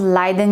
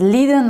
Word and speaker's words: Leiden: with the factor 5 Leiden mutation now here this mutation is named after a city in Netherlands by the way and you can pronounce it as Lydon or Leiden as you wish but here the problem